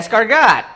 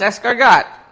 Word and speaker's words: escargot: Escarot. It's escargot.